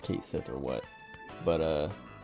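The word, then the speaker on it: Cait Sith: I'm pretty sure like everyone has pronounced it everyone has like pronounced it and corrected everyone else who pronounces it wrong uh to pronounce it as as cat she or or however cat she but then they finally voice it and they just say Kate Sith um and it's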